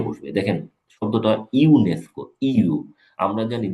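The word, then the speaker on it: UNESCO: এটার সাউন্ডটা আমি আপনাদের দেখাই, সাউন্ড হলো এরকম, ফোনেটিক্স হলো এরকম লিখবে, এটা উচ্চারণ ইউ, এটা একটা কনসোনান্ট সাউন্ড।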